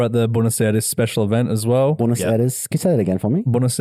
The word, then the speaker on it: Buenos Aires: He was top 4 at the Buenos Aires special event as well. Buenos Aires. Can you say that again for me? Buenos Aires. Oh, it's Buenos Aires.